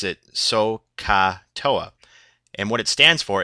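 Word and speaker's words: SOH CAH TOA: worry about it that's an acronym and we pronounce it sooa and what it stands for is s is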